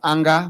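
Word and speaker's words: A'nger: Spells as anger, but it's pronounced Ange in Tiv language.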